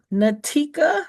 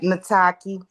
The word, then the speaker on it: Nataki: Natika, if you can come off mute and ask your question. I hope I said it right. Uh, Nataki. Nataki. Okay, Nataki, how you doing?